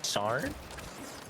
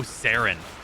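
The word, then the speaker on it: Saryn: been brought to the sarn frame i'm saying that right sorry which one is what the house is spelled like s-a-r-y-n i think oh sarin yeah baron yeah yeah yeah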